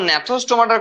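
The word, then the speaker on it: Gnathostomata: আর যখন ন্যাথোস্টোমাটার কথা হচ্ছে, জি সাইলেন্ট আছে, হ্যাঁ ঘাবড়ে যেও না।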